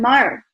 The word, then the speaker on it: Maher: And I'm really excited today to present John Maher. John, am I saying your last name right? Yes, John Maher.